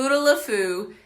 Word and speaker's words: Futaleufú: finally pronounced with stupid word so let me spell that for you f you tal you Fu futaleufú aka the Fuda aka the foo google it